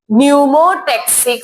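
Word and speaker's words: pneumotaxic: That centre name is P silent है। न्यूमोटेक्सिक centre क्या?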